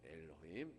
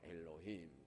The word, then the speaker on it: 엘로힘: 엘로힘, 엘로힘 히브리 발음이에요. 엘로힘.